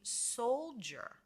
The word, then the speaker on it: soldier: a n followed weren't d i together with the e r we're getting a j j sound we have a j another j sound so in this word it would be soldier soldier when we have